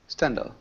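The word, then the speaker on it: Stendhal: h e Nal yeah no no without H correct it's correct like this yeah yeah perfect the age oh stendal yeah called stendal syndrome interesting I've never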